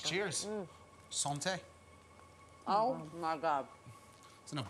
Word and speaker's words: santé: Santa. Did I say it right? Santé.